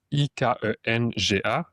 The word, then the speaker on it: Ikenga: Donc, ce concept-là, Ikanga, qui se prononce Ikenga, il représente la force intérieure, la décision, la capacité d'agir en cohérence avec son destin.